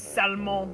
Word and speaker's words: Salmon: His name is Salmon, which is pronounced salmon.